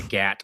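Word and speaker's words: 갓: It also says the gat or hat. Gat. The hat is called gat. Oh, or cat. Pronounced cat. Cat.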